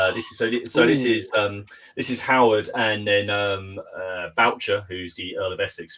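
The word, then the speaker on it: Bourchier: Although it's quite funny, because I think he's meant to be pronounced like the actual French pronunciation would be Bouchier. It reminds me of Hyacinth, Bouquet. It's like, fuck it. And it's actually no, mate. Your name's Boucher.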